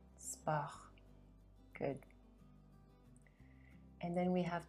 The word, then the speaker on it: sport: fait trop sirop drap thé eau tarot sot sport R is the last sound. sport Good.